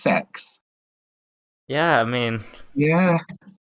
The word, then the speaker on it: CeX: Apparently, it's pronounced sex.